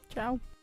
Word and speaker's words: Ciao: Ciao, Belle. That's not how you say it. Ciao.